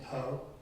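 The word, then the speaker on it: Pou: Last name Poe, P-O-U. P-O-E, P-O-U. It sounds like P-O-E, but it's spelled P-O-U.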